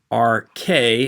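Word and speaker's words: ἀρχή: Arche is how it's pronounced.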